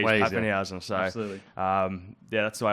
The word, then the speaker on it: Papenhuyzen: And I'd break it up into the Papen and the Hewson. I say Hewson, I should say Housen.